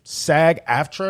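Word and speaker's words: SAG-AFTRA: this first geez um sag after that's how you say it yes right is officially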